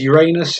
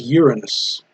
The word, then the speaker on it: Uranus: I think British is Uranus and American is Uranus.